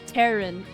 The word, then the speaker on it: Terran: There's no accent on the A in Terran? Clay Terran? Terran? Oh, like, of the Earth, Terran. Gotcha.